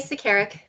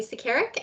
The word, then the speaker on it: Sekerkic: And I believe that Sekerkic, did I pronounce that correctly? Close, Sekerkic. Sekerkic will be representing staff on that issue. Yes, thank you. I am Sekerkic, and I will be presenting St.